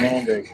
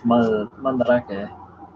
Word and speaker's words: Mandarake: Mandarake Online. Mandarake. Sounds like Mandrake to me, though. It reads like Mandrake to me, but it's Mandarake. Like you could go to karaoke, or you can go to karaoke.